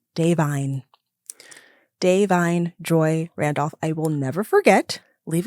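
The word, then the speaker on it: Da'Vine Joy Randolph: so my journey has been I've been saying Divine Joy Rudolph first of all yes okay and then I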